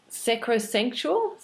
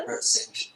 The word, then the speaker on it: sacrosanct: So those three are transcendental, transformational, and sacrosantual. Is that how you pronounce it? Sacrosanct.